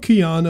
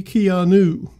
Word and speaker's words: Keanu: get his name wrong it's not kion oh it's clearly Keanu editing Lucas is very